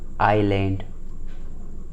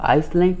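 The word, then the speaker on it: island: अगर कहीं भी अगर आई तथा एल के बीच में आए हुए एस क्या होता है? साइलेंट होता है। ठीक है, कई बार वहाँ पे साइलेंट हो जाता है, जैसे कि आइलैंड। ठीक है, आईलिट। ठीक है, यहाँ पे आप लोगों को यहाँ पे हम लोग आइसलैंड नहीं पढ़ेंगे इसको। ठीक है, आइलैंड पढ़ेंगे यानी टापू।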